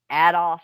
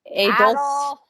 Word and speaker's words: Adolf: Adolf. It's like, hey, I'm going to go a golf today.